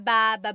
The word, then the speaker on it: baba: Emphasis is on the first syllable.